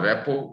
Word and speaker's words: rapport: First of all, providing structure, what we will do, and then developing a relationship or rapport. Rapport is R-A-P-P-O-R-T. T is silent.